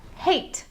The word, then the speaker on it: hate: the word again hat if we add an e to the end of the word we have hate h-a-t-e hate hat short vowel sound hate long vowel sound let's look at another